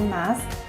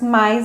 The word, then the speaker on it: mas: Aqui, apesar de ser o mas sem o i, é comum falarmos mais na pronúncia, principalmente quando falamos mais rápido.